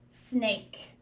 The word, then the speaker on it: snake: say a sn a snake snake we do not hear that e on the end that e is silent the only job that e has is to make the vowel say its name so what i'm going